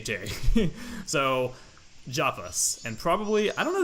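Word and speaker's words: Japas: most likely javis because in the Japanese version it's pronounced with the J sound not an ape sound so that's not a HJ that is a J dairy so javis and probably I don't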